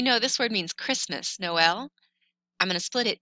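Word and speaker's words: Noël: have this on top it means that o and E get their own sounds it splits them apart so normally OE together in French is pronounced so this word would be null but we know this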